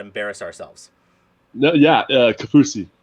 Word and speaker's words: Kaufusi: i do not embarrass ourselves no yeah uh capousie cafusi okay all right i always embarrass myself regardless